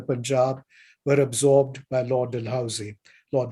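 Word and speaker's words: Dalhousie: Indian State the Punjab were absorbed by Lord dehousy Lord deusi if you would like to use the pronunce that pronunciation Lord dehousy is often Remembered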